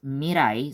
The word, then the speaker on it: Mirai: although her Kani is Mirai so which means future but uh they I guess the producers made it pronounce as uh Mira to incorporate the mirror you know like the